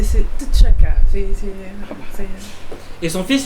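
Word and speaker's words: T'Chaka: Euh, c'est chaka. C'est chaka. Mais il y avait un il y avait autre chose avant. Si si je peux me permettre la prononciation avec ça, c'est Tchaka.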